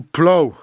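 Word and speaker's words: plough: Ton verbe, labourer, ploug, je crois que ça se prononce to plow.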